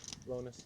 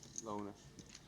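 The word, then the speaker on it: Lonis: Jesse Lonus or Linus? Lonus. Lonus.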